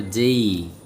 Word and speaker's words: J: কারণ আমরা বলি এ, কিন্তু এটা উচ্চারণ যদি করি এই, ভি, সি, ডি, ই, এফ, জি, এইচ, আই, জেই, আমরা বলি জে, এটা হবে জেই, খেই, এল, এম, এন, ও,